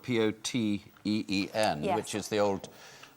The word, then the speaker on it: poteen: But you put an H in there, so it looks like potheen, but it's poteen with the H. Yep, different Poteen.